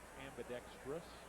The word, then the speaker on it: ambidextrous: an ambidextrous pitcher and i just mispronounced that word ambidextrous not trius and the last one